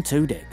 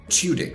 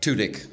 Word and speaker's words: Tudyk: oh him for Alan tck otherwise pronounced as tck is the proper the liquid U is the appropriate as I was taught in drama school um but tudk is also appropriate but